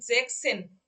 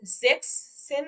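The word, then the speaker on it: sechzehn: তারপরে যখন জেক্স এর ঘরে যাচ্ছে, অর্থাৎ জেক্সেন, অর্থাৎ 16-কে যখন আমরা বলতেছি তখন এই যে এসটাকে আমরা তুলে দিচ্ছি, অর্থাৎ জেক্স সেন না দিয়ে জেক্সেন দিয়ে দিচ্ছি, জেক্স সেন না দিয়ে জেক্সেন দিচ্ছি।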